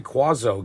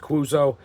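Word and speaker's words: Cuozzo: the punters uh Gary quazo gets the start for Minnesota I hear that pronounced uh watching NFL films I've heard it pronounced quazo I've heard it pronounced kuzo I'm going with quazo on that he's getting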